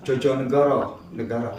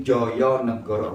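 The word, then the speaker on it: Djojonegoro: Wardiman bukan Jojonegoro, tapi Joyonegoro. Wardiman Joyonegoro itu Menteri Pendidikan pada zaman era Bapak Jenderal Soeharto.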